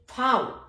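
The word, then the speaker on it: Vau: वी, वी का English में वी उच्चारण होता है लेकिन जर्मन में फाउ, फाउ का मतलब है फा, वी को फा बोला जाएगा।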